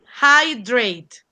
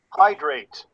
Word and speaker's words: hydrate: you pronounce EJ no look at the IPA oddly hi hydrate hydrate yes listen hydrate hi hi okay when you don't